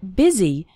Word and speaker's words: busy: in fast spoken English the word busy is pronounced with an i sound busy and the word and